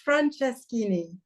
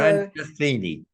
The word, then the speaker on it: Franceschini: Because I so always my last, it's Franceschini. So Franceschini.